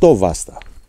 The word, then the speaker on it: Βάστα: in the village of Vasta we are at an altitude of 860 meters and as the locals say it is Vasta and just like that